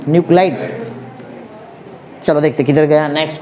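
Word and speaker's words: nuclide: न्यूक्लियाइड क्या बोलेंगे उसको, न्यूक्लिड बोलेंगे, क्या बोलेंगे तुम लोग, NUCLE, LE की LIDE है, LIDE ना, न्यूक्लाइड।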